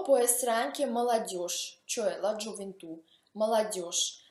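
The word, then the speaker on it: молодёжь: O può essere anche молодежь, cioè la gioventù, молодежь. Anche qui bisogna stare attenti perché si scrive молодежь con G, ma si pronuncia молодежь con SCE.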